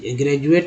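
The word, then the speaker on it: graduate: तो ऐसे कि ग्रेजुएट में यहाँ पे ग्रेजुएट में जो आप देखते हैं डी, इसका उच्चारण ही ज के रूप में होता है, ठीक है। ग्रेजुएट में डदा होगा तो गलत उच्चारण हो जाएगा, ग्रेजुएट या ग्रेजुएट बोलेंगे जो कि गलत ही हो जाएगा ना।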